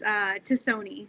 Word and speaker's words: Tassone: Close. It's close. It's Tassone. So just think like Tassone.